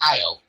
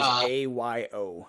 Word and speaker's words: Ayo: Is that how you pronounce it? I thought it was Io. Ao. It might be Io. I don't know how to pronounce it either. I know it is Ayo.